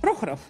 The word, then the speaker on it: Prokhorov: Prokhorov.